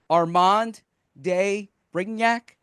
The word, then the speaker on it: Armand de Brignac: Okay, correct me if I have the pronunciation wrong. Armand de Brignac, is that correct? You nailed it. That's the perfect pronunciation.